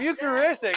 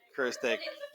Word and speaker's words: Eucharistic: Eucharistic. I thought you said you're so close. I did. Eucharistic.